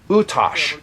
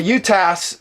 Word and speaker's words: UTAS: version perhaps just perhaps utas or whereas I think it's supposedly pronounced utos go slow yeah utos I will say utas the Americanized version apologize the utas might Square this gun